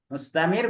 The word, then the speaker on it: مستمر: Jadi perlu dipahami ikhwan, ketika nanti membaca surah Al-Qamar mustamir itu bacanya Tebal.